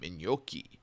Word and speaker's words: gnocchi: like, look at me, I'm gnocchi and I'm cool. My name has a silent G in the front.